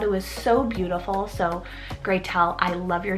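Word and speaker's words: Gretelle: the name gretel and her name is graytel and she spells it g-r-e-t or you can spell it g-r-e-t-e-l-l-e inspo is hansel and gretel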